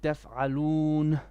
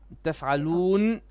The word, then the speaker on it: تفعلون: Don't breathe after the noon. You said تفعلون. No. تفعلون, and you stick your tip of your tongue to the top.